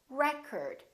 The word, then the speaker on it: record: This word, if it's a noun, it's pronounced as record. The first syllable is stressed.